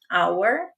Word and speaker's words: hour: Veja que a palavra our começa com h, mas esse h não é pronunciado, ele é mudo. Então, por isso que vai ser considerado o som da vogal hour.